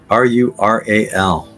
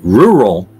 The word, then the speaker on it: rural: simple five letters right commonly mispronounced the incorrect way is rural and the correct way is rural it's not Ru it's rur it's not rural it's rural rural I think I say